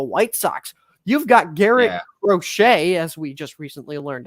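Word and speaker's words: Crochet: thing with the white socks you've got Garrett rochet as we just recently learned it's properly pronounced who is a currently a Sai Young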